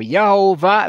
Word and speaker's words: Yahweh: word and it is in hebrew yahweh or yahuwah it wouldn't matter how you pronounce it but probably yahweh so they write it